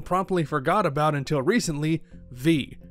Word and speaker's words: VVVVVV: forgot about until recently, V. And yes, that's apparently how you're supposed to pronounce it.